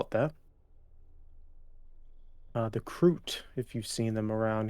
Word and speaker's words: Kroot: Kroot? Crute. So like Groot.